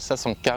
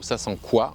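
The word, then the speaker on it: sasanqua: deuxième espèce qui s'appelle Sasanka ou Sasankwa. Donc là, tout le monde n'est pas d'accord sur la prononciation. Le camélia Sasankwa, moi je le prononce comme ça, a une croissance un peu plus rapide que le japonica.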